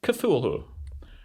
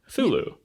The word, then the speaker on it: Cthulhu: It's like Cthulhu. Or Thulu. You got options, and because the dude who invented the word is dead and gave more than one valid pronunciation before he died, we're going to do what we want.